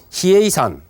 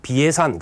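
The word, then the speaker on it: 比叡山: 이 사이초 스님에 의해서 이 만수원이 782년에서 806년 사이에 걸쳐서 히에이산, 이제 우리가 보통 발음할 때는 비해산 그렇게 이야기하죠.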